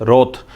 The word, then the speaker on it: wrath: Repeat कर रहा हूं, WROTH उच्चारण है, प्रोनाउंसिएशन है रोथ। WRATH क्या प्रोनाउंसिएशन है? रोथ। दोनों का उच्चारण रोथ है।